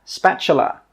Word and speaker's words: spatula: This is a spatula, spatula, spatula. The T sound is actually pronounced as a CH sound.